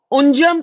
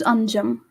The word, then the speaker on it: Anjum: shock you uh unjam am I saying your name correctly is it anjum or is it unjam first please tell me that I don't want to say your name wrong uh good evening ma'am it's anjam anjam Anam please okay